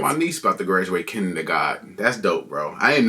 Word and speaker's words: Kindergarten: Start with one of the most known ones and that is kindergarten. In German, we pronounce it kindergarten and it literally means children's garden.